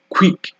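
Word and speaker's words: quick: graph graph এরপর আছে কিউ ইউ কিউ ইউ এটাও একটু ডিফারেন্ট টাইপের এটাকে উচ্চারণ করতে হবে খা খা খা মানে কে আর ডব্লিউ কে ডব্লিউ দুইটার উচ্চারণ এখানে চলে আসবে খো খো খো ঠিক এক্সাম্পল যদি দেই queen queen queen queen কুইক কুইক কুইক queen এরকম অনেক ডায়াগ্রাফ আছে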